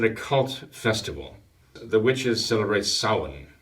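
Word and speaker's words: Samhain: evening it's an occult Festival The Witches celebrate Saun right spelled Sam Hayne but it's not pronounced that you know it's Salomon the Feast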